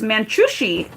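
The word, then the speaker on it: Manjushri: Okay, so how you pronounce it is Manchushri.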